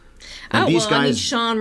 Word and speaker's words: Shaun: I mean, Shaun rhymes with Dawn.